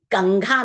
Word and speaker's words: कंघा: है यहां पर बच्चों यह बात आप याद रखिएगा कि कंघा में क वर्ग का जो पंचम अक्षर है उसका साउंड आएगा और चंचल में जो च वर्ग का पंचम अक्षर है उसकी ध्वनि उच्चारण के समय आपको ध्यान रखनी है।